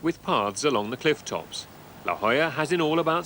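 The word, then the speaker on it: La Jolla: spelled La Jola but is pronounced La Hoya La Hoya Spanish for the jewel is another wealthy suburb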